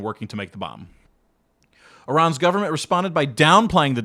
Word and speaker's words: Iran: enrichment of uranium in Iran or Iran. I' I've been told I say it wrong. I think it's Iran. And of course, these people have been shut out and all these things.